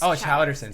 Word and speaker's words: Chaus: It's Chowderson.